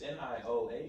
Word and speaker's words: Nioh: But nah, I've had Nio too for like I think 2.5 years now. Still Is that really how you back pronounce it? Nio? It's Nioh.